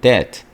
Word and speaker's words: debt: 다음 go in debt, go into debt. 묵음이죠. B가 빚을 지다.